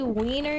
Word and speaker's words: Wiener: Looking for an icy wiener here. Icy wiener. That's from The Simpsons. Actually, in Germany it's pronounced Wiener, so...